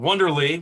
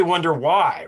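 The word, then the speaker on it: Wondery: it's fun to say because i'm saying it wrong it's wondering which is really wonder why right because it's like wonder why there's a there's a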